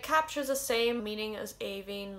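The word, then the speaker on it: Aoibhinn: one spelt with i n n and it's pronounced like avin i know there's no fad on the eyes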